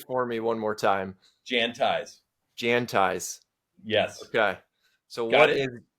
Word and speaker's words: Jantize: you it's my pleasure make sure it's Janti 1 a one I onee everybody wants to put an extra a like Jan ties or Jan TI there's no so pronounce it for me